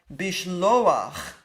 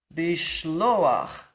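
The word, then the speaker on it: בִּשְׁלֹחַ: And at the bottom we have bishloach. Bishloach. And again there's this patach furtive.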